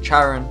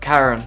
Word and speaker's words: Charon: the initiation of Charon now through this video I am going to pronounce it the hand of Charon but in America I think it's the hand of Karen and in Greek it's the hand of Haron but I'm from Australia and we typically follow the British way of pronouncing words I have to simply